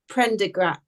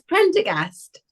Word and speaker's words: Prendergast: Oh, summer is my I think least before favorite we start, we need to talk about the pronunciation of the Prendergrass. I can't say it now. It's Prendergast. Yeah, I thought it was Prendergast.